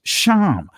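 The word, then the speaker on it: שם: word for name and i'm just going to say it from the ancient pronunciation is sham and sham means it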